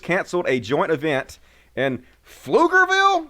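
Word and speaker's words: Pflugerville: a joint event and flugerville is that how you pronounce that is the p silent there's too many uh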